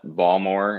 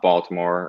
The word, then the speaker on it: Baltimore: big one here is calling it balmor instead of It's Not Baltimore or anything so Balmer is probably the best one you can get out of me and that wasn't no